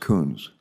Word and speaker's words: Coons: My name is pronounced Coons.